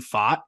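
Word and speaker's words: Pfaadt: lucky and then they've got another dude Brandon fought it's spelled p-f-a-a-d-t and he is shoving in AAA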